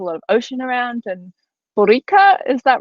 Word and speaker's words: Boricua: And Borica, is that right? Correct pronunciation? Yeah, so Puerto Rican people call ourselves Boricuas because the original name of the island was Borinquen.